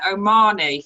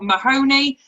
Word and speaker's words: Omani: at the end there omani for everybody who's watching this is your last chance he is not mahoney and he is not oh mahoney he is omani just say it like that say it like